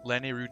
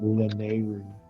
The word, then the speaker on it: Lanayru: Yeah, I put the accent on the Lan. Do I? Lanayru? Where's the accent there? I'm pronouncing them all pretty hard. Lan, A, Ru. On land. Mine's on Nay.